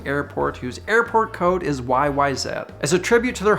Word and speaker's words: YYZ: is the rush song YYZ yes that is how we pronounce the last letter of the alphabet up here and also how Geddy Lee has introduced the song live how about that anyways